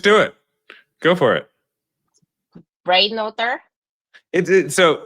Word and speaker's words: Breitenother: the ends, just like Breitenother. Squish it. I know. I'm This sure is many German. generations ago they pronounced the whole name, but we just kind of bastardize it now.